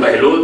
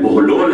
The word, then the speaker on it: بہلول: سوال ہمارے یہاں تلفظ کیا جاتا ہے، عربی میں سوال ہے، ہمارے یہاں بہلول تلفظ کیا جاتا ہے، لیکن اصل میں بہلول ہے، بے کے پیچھے اوپر پیش ہے.